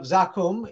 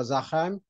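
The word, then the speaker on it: زقوم: and it's called the tree of Zakum in Arabic pronunciation, or Zakhaim, Zakhaim or Zakhaim, depending if you are from Egypt or Tunisia or from Oman or from Libya or Kuwait.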